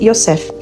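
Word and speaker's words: יוסף: tinha no original José que no original hebraico pronuncia-se iosef quando Lucas escreveu o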